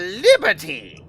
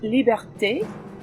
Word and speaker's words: Liberté: Mademoiselle Liberty! It's pronounced liberté, and it's madame.